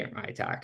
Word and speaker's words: ITAC: So the Indigenous Tourism Association of Canada, which is ITAC, you'll hear me say ITAC. It's less syllables and vowels, but it's a nonprofit organization.